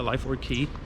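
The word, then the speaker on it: Lyford Cay: That's how you say it, Lyford Key.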